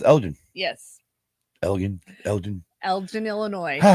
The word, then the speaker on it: Elgin: I would not know how to pronounce it except for I have people from that's pronounced it for me. Okay. That I talked to. All right, so it's Elgin.